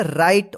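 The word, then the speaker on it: write: आर आई टी ई इसको क्या पढ़ेंगे राइट राइट नहीं पढ़िए यहां पर जो है ना डब्लू साइलेंट रहता है ठीक है ना राइट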